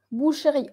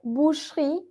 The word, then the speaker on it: boucherie: BOU se U. Boucherie.